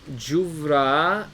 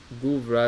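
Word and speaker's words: גוברא: So ve'arba me'ot ish imo ve'arba me'a juvra ime. Ish is, the Targum is juvra, or guvra, as many people read it. The Yemenites even pronounce the gimel differently if it has a dagesh or not.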